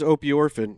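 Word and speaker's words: opiorphin: So there is something called, are we pronouncing that correct, Owl Borland, or do you not know? I believe it is opioorphin, yes, and it's Opioorphin?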